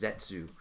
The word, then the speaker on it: Zeztz: The actual Japanese pronunciation is Zetsu.